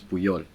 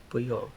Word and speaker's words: Puyol: And the Basset Hound, his name is Puyol. Puyol. And the names are they're Catalan names. Okay. From the Barcelona, but they're named after soccer players because I love soccer. So Puyol because he was a very strong defender, pretty